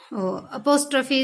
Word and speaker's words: apostrophe: अपोस्ट्रोफी इसका pronunciation होता है, करेक्ट प्रोनाउंसिएशन।